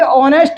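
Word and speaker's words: honest: मतलब अपन यह कह रहे हैं कि ऑनेस्ट में जो है वो एच आपका साइलेंट होता है।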